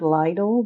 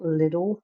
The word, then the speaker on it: Lidl: um thing where um sometimes older people call it lidle but here in the Netherlands it really is called little because that's the Dutch how you would pronounce it in Dutch but I don't know